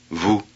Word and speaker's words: vu: this is the right pronunciation vu 16. imitate the correct pronunciation keep the vowel short 17.